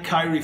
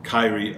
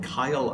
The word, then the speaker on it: Kyrie: if I remember rightly I mispronounced his name throughout that video I thought I totally forgot about this I just remembered it right now I think I called him Kyle Irving all the way through and I had to